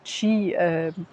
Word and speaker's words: Qi: quotidien puisque pour eux l'énergie c'est le fameux chi alors ça s'écrit Qi ou bien Chi et pour la